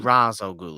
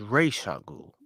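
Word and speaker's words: Ra's al Ghul: i started calling him razor ghoul as well the nolan movie it's not that's not how you pronounce it it's racial yes so i just want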